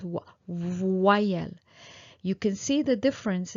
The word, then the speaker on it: voyelle: Well, a vowel in French is voyelle. Okay, voyelle. So, as you can see, O plus Y, voix, wa. It becomes wa, the sound wa, voyelle.